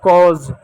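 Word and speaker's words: cause: यहाँ पर ज होगा कॉज। ई का क्या? ई साइलेंट होता है, किसी भी शब्द के अंत में ई आए तो ई साइलेंट होता है, इस बात को याद रखिएगा।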